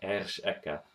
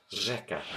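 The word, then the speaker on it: řeka: It's pronounced differently. You don't see here Ersheka. This means river, by the way. Instead, it's pronounced Rzeka.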